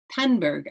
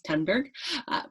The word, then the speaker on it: Thunberg: the attacks on Greta Penn burg apparently I was saying it wrong my apologies to Miss tunberg but she is being